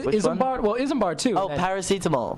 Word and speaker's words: paracetamol: know uh can you help me with the pronunciation I'm sorry PR isar isar well ismar too oh paracetamol paracetamol yes exactly I you guys call it um